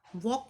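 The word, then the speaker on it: walk: इन D world वॉक वॉक में silent letter कौन सा है साइलेंट लेटर क्या होता है जिसका हम प्रनंसीएशन नहीं करते अब इसमें हम व का प्रनंसीएशन कर रहे हैं वो वॉक के साथ नहीं हो रहा है इस तरह से साइलेंट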